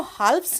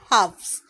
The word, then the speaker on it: halves: यहाँ L silent है, हम इसको हाल्फ्स नहीं पढ़ेंगे, हम इसको पढ़ेंगे हाफ्स, क्योंकि हाफ का प्लूरल फॉर्म होता है हाफ्स। एक अकेला होता तो हम हाफ कहते, लेकिन ये एक से ज़्यादा है तो हम इसको कहेंगे हाफ्स। एल यहाँ साइलेंट होगा।